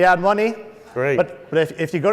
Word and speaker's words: Adomni: for the a Domini someone mispronounced the name once and they said you and Omni or admin ears and money we went with the ad money great but if you